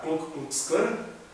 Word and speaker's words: Ku Klux Klan: anterior, ou nos dias anteriores, o pessoal da Ku Klux Klan, é assim que se pronuncia, que é aquele pessoal que usa aqueles